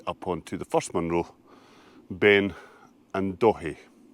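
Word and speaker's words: Beinn an Dòthaidh: onto the first Munro, Ben and Dòthaidh. That's how the wee man on West Highlands pronounces it, I promise you. Ben and Dòthaidh.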